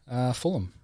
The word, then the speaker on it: Fulham: Fulham.